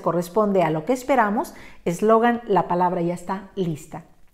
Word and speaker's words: eslogan: dejamos sin ninguna tilde el caso de eslogan tres sílabas terminen n grupo del 7 su corazón está en la sílaba lo y como se corresponde a lo que esperamos eslogan la palabra ya está